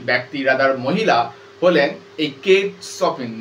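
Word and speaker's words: Kate Chopin: দেখতে পাবে that is কেট সপিন ওটা চপিন উচ্চারণ করব না কেট সপিন সিটার উচ্চারণ স এর মত হবে এনার আরো একটা নাম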